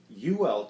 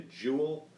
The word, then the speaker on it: Uwell: look at this, and I was calling it the Jewel because that U kind of looked like a J to me, but the company is in fact Uwell Technologies out of Shenzhen,